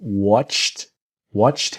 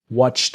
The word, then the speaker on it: watched: So watched him is a T, watched him, watched him.